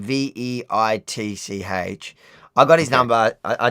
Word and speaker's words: Veitch: Charles Weiss. I'm pronouncing it wrong. So it's Charles and a surname Veitch.